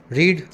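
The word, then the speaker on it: read: पहली तो हो गई ये कास्ट रीड है ना रीड रेड रेड v1 v2 v3 same रहेगी बोलने में अलग होगा स्पेलिंग सेम है हर्ट हिट स्प्लिट क्विट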